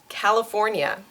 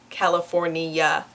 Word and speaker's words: California: Hand, hand, California, California. So notice the ah in the first syllable, and also that it is 4 syllables long, not 5. So it's not California, California, California.